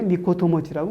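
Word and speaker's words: ミコトモチ: 그런 사람들을 645년 이전에 미코토 모찌라고 그랬다고요. 우리는 지금 562년까지의 미코토 모찌를 얘기하죠. 그렇죠? 그러니까 저 부는 일본 서기에 가장 오래되고 신뢰성 있는 필사본의 훈독, 이렇게 읽으세요 했던 미코토 모찌. 후라고 읽지 말라.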